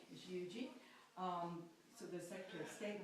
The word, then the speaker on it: Huger: genuine South Carolinian if you know how to pronounce that correctly is Yuji so the Secretary of State buried their minister